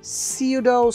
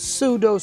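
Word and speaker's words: pseudo: ভাগ ভাগ করতে হবে এটা ব্রিটিশ হলে সিউডো সিউডো আর আমেরিকান হলে সুডো সুডো ওকে পিটা সাইলেন্ট এখানে সুডো সুডো এটুকু একসাথে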